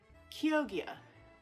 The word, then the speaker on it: Chioggia: So it's spelled Chioggia, and it is pronounced Chioggia. That is not even close.